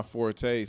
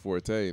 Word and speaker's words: forte: People believe that it's supposed to be forte. And I was told later on in life, that's not my fort.